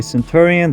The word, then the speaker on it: Centurion: process anyways this was your boy Centurion that's how you pronounce my name and maybe we'll see